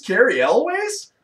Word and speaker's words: Elwes: The only reason I know how to pronounce his name right is because they had on Family Guy one time, they had Peter Griffin calling him up. Like, hey, is this Cary Elwes?